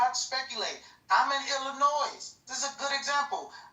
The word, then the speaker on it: Illinois: Illinois, not Illinois.